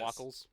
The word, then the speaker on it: Wackles: Then we had a interesting discussion with Charlie Wackles. I believe that's how it's pronounced. He said it was like waffles, right? Yes. Wackles.